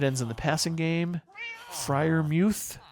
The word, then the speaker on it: Freiermuth: Freiermuth, who I learned from the broadcast, that's how he pronounces it, Freiermuth, should be a solid